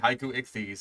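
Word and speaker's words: Haikouichthys: It's like, it's basically the word haiku, as in, like, you know, the poem Japan, and then ichthyes, as in, like, the basic fucking prefix for fish that is used all across science.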